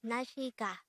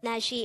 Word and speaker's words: 날씨: sentence mean the word in red letter is nashika because today on one korean word of the